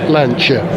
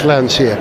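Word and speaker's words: Lancia: car show four magnificent lanchers and it is pronounced lancha don't let anyone tell you it's lania I know that because Paulo pinina himself said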